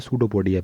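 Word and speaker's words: pseudopodia: सूडोपोडिया, P silent है, SEUDOPODIA, सूडोपोडिया नाम सुना होगा।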